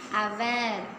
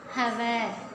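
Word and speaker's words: hour: Example N आपल, an umbrella, and अवर। Look at this word here. Hutch is silent. We shouldn't से हवर, वी से अवर, सो वी पुट an before.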